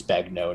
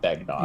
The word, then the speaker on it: Begnaud: and I'm like, it's Begnaud, not Begnaud. Yeah. Yeah. It's the French pronunciation.